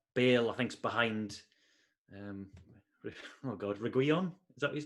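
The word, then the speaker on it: Reguilón: So Reguilon, and the I is silent.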